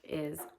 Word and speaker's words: hay: Also the next page, page 34 in our book is I h a y. it's pronounced I and it means there is or if you're talking about something plural it can mean there are.